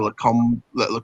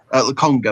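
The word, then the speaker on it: Lokonga: In terms of Arsenal, I mean, looking at obviously Basuma, looking at this 17-year-old kid, Albert Sambi Lacombe, I think it's pronounced. Laconga, that's the one.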